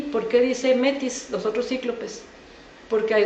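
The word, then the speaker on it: μῆτις: Y fíjense cómo se dice inteligencia, se dice metis.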